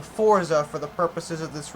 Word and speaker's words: Forza: news to me, because that's definitely a Z, and there's no T there, but apparently it's pronounced Forza by, like, all British people, but since I am American, I will be saying Forza for the purposes of